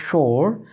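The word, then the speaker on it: sure: ভাবে বলতে পারেন অর্থাৎ ব্রিটিশ উচ্চারণ করলে আপনি আর এর উচ্চারণ করবেন না আর আমেরিকান উচ্চারণ করলে আর এর উচ্চারণ করবেন তবে সেই আর এর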